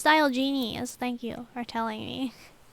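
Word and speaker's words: Diogenes: all right quick save di Genies dial Genies oh it's pronounced dial Genies thank you for telling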